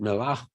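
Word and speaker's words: Mellah: of the Jewish quarter, Melach. Melach, M-E-L-L-H, you see it spelled that way as they pronounce it, Melach, they think from the word melach, salt.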